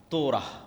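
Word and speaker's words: תורה: তোরা বলে ইহুদিরা উচ্চারণ করে যে তোরা যখন তাওরাত দেওয়া হলো।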